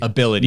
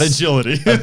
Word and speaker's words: Abilitie: decide cool and the company's name is ability ability not agility ability not agility it